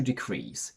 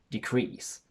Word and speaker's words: decrease: in quantity or amount because it's a verb the stress falls onto the second syllable and we have a short sound for the first e so we say decrease when we transform it